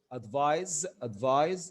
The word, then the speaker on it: advise: لكن بالاس which is pronounced advise is the verb advised advised.